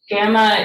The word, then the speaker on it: gamma: thing it's a gamma gamma is a hard g sound it's not really a soft g sound in greek um so this makes the sound of gone or gamble g sound and so this